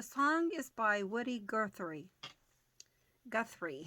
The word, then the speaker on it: Guthrie: Guthrie, I think is how it's pronounced.